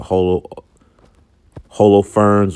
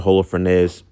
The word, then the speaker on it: Holofernes: one of the generals, I think his name was H uh Holo or Hollow Fes, I think is how you pronounce his name.